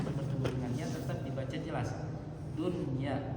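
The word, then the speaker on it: دنيا: Dunya tidak dibaca duya.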